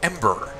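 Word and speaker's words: Em8er: Oh, also as a slight note, I will be doing Ember when it comes out. It's EM-8ER. I'm just pronounced it Ember.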